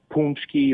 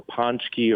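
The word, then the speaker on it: pączki: say it it's no punki or ponki or however different forms that you know people attempt to say it that is actually the correct way does it get to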